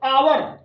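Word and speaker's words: hour: यहां पर हालांकि एच से स्टार्ट है, एच साइलेंट है, उसके बाद ओ मिल गया। Okay guys. तो आवर हिंदी के उच्चारण में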